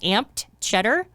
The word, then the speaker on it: Amped Cheddar: And follow us on social media at Finance is the Other F Word, and on Twitter at Amped Cheddar, AMPED CHEDDAR. It's amped cheddar, if you want it pronounced in the proper way.